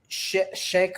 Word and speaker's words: Sheikh: this name but look it's it's shake or look I I have a middle eastern background so I've got to say it right um obviously when I